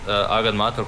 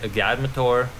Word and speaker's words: Agadmator: i'm captain jack sparrow does hikaru pronounce agat matar correctly no he doesn't i think he pronounces it like a guy mature i think something like